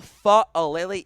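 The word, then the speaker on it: Faalele: Travis Jones, Daniel Fa'alele is the pronunciation.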